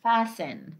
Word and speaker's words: fasten: And we have, for instance, fasten, like this. Fasten. Okay, so this ta is silent as well. We say fasten.